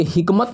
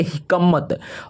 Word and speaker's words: हिकमत: नासर के पास यहाँ पे देखिए हिकमत, हिकमत, तो इसके हिकमत नहीं पढ़ेंगे, इसको पढ़ेंगे हिकमत, और हिकमत का स्पेलिंग होता है HI, ठीक है, HIKMAT, हिकमत।